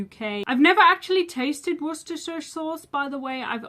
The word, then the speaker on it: Worcestershire: but it is pronounced Worcestershire. Worcestershire. And the ending is pronounced sure, not shire.